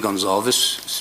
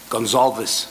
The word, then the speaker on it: Gonçalves: But the way you pronounce the surname is you don't pronounce the V. Gonçalves. No, you pronounce it Gonçalves.